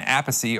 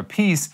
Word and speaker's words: Appice: And if I remember my facts correct, I believe the drummer on this song, Carmine Appice, or Appice, however you wanna say his name, I believe he co-wrote this song.